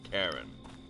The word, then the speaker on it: Charon: And yes, the ferryman, his name is Karen, and it is pronounced Karen.